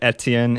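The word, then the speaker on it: Étienne: I don't even pronounce it right technically because it's a French word. It's like Etienne or something like that. Someone will look it up themselves, but I pronounce it Etienne. It's very easy to say it like that, the American way, since that's the only way I'm familiar with.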